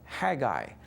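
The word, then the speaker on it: Haggai: coinciden en argel pero en inglés se pronuncia heguy aunque muchos dicen que hay incorrectamente cuando fue escrito el libro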